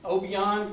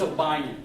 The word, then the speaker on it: Obion: They might pronounce it Obion County, but here it's Obion.